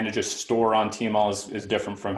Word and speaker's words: Tmall: If you see the little cat there, TMall was mispronounced as TMall. When it started becoming popular in China. TMall, depending on how you pronounce it, means sky cat.